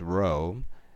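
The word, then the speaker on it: rho: looking thing it's pronounced row it's Greek letter for R and for this hypothesis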